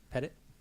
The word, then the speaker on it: Pettit: do you pronounce it pet it pet it if your daughter got a dog pet it my name is Pettit I I've owned Remnant Farms feed since 2005.